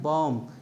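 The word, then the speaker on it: bomb: रहा है कि इसमें ए के बाद और टी से पूर्व जब आता है तो वो बी क्या होते हैं साइलेंट होता है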